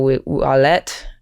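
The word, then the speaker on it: Ouellette: I like the hey I would have said ulette so you got me there good J but I only know that because I had to go and ask how do I pronounce all of these things and I wrote wallet like for you for your credit cards you're learning the tricks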